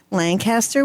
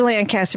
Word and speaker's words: Lancaster: I say Lancaster, but that's not the correct way of saying it. How do they say it? They say it. I don't know. Jessica. Lancaster. Lancaster. Right. That's it. I knew we were saying it wrong.